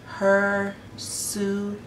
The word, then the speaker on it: hirsutism: Now I'm gonna try to say this, but it's pronounced hirsutism.